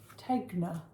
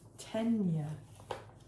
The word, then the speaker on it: Tegna: So the pattern is the Tegna. I think it's actually pronounced Tenya. It's got a pronunciation on the thing.